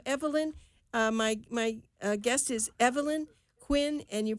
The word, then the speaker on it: Huynh: of fame so Evelyn my guest is Evelyn Quinn and you pronounced it eight Quinn but it's h uy